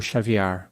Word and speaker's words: Xaviar: De acordo com seu advogado, Xavier pronuncia seu nome como Xavier, como caviar.